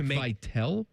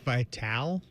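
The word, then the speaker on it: Vitale: Is that how is that how we say his name? Dick Vital.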